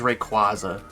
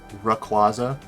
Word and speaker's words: Rayquaza: I always thought it was a R sound at the start of, not a Ray, like Rayquaza.